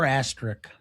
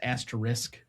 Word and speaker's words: asterisk: Um, for asterric and again for pronunciation sake it's asterisk but okay.